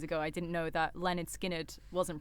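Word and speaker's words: Lynyrd Skynyrd: I didn't know that Leonard Skinnard wasn't pronounced Leonard Skinnard.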